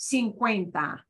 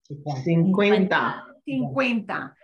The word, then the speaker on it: cincuenta: get cincuenta cincuenta and notice we've got a c-u-e in the middle and that u e they go together that's what we call a diphthong and the it's way way it's like a w it winds up being kind of like a w sound in English Okay next we get